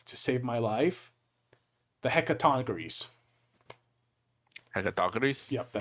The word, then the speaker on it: Hecatoncheires: And had then the, and I can't pronounce this right to save my life, the Hecatoncheires. Hecatoncheires? Yep, the Hecatoncheires.